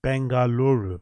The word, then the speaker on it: Bengaluru: Bangalora or Bangaluru how do you say that Bengaluru Bengaluru um on the smaller end of things